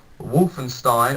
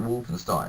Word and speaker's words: Wolfenstein: I had terminal salvation Wolfenstein or Wolfenstein as the Americans say well we call it Walt and Stein over here like Frankenstein or Frankenstein and then this game and